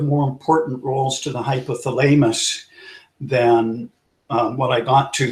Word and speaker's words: hypothalamus: You say them in your head one way, but they're pronounced another way. Anyways, hypothalamus.